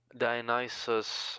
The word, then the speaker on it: Dionysus: Dionysus, emphasis on the last 3 letters of his name.